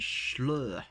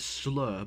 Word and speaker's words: Shloer: I pronounce it as Shloer, but it could be other ways to pronounce it.